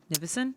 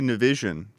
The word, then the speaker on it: Nivison: How do you say your last name? Nivison? Yeah. Some people say Nivison.